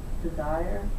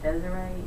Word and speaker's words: Desiree: way her name is, that people pronounce it Desire instead of Desiree, and she hates that.